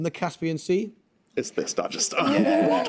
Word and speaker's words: Dagestan: Is this Dagestan? Dagestan. It is, although it's pronounced Dagestan.